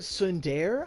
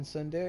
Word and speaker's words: tsundere: The T is silent in tsundere.